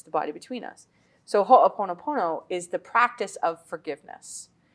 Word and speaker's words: Ho'oponopono: So tell us about Ho'oponopono.